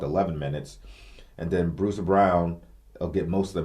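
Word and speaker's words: Braun: bro I called it I called him broad but I guess his name is pronounced Brown b-r-a-u-n they kept saying that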